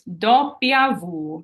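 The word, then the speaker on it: doppia vu: V is Vu Vu W is a long one it's dop Vu so I underlined the do and the Vu because that's where the accent goes dop Vu X is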